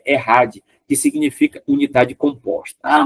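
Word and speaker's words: אחד: errad né a Chad escrita tal mas a pronúncia é errad que significa unidade composta Ah mas como Israel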